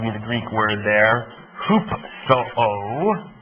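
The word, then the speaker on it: ὑψόω: the Greek word there hoop Soo it's not a misprint hoop so with a long o at the end okay which simply means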